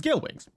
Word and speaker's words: Gale Wings: It is, and now let me not make a fool out of myself by getting the name wrong, it is Gale Wings. That's the word. It's Gale Wings.